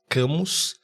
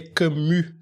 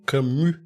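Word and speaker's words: Camus: Albert kamami a gente algumas pessoas chamam de camos né porque se escreve camos mas se lê camu com um I misturado com u camu eh e e o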